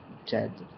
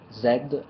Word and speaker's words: Djed: of such a word so I pronounce it Jed but uh Zed is also acceptable and in general I